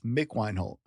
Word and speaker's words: Mick Wienholt: I'm your host, Brent Don, and today my guest is Mick Weinhold. Mick, I probably butchered your name.